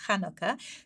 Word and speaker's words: Chanukah: But the right way to pronounce it, the Hebraic way to pronounce it, is Chanukah, because it is the ch.